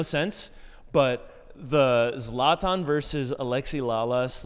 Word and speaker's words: Alexi: doing subtle jabs at Alexi. He's calling him Alexis. Like, you know, he's he's mispronouncing his name like Alexi is like